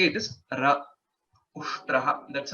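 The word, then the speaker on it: उष्ट्रः: Shakara, takara, and then rakara. So this is half. This is a halanta to say it is half takara, and this is to say it is ra ushtraha.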